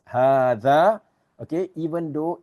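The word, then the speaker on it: هذا: Okay, so just take note, dhalika is pronounced dhalika, just like hadha is pronounced as hadha.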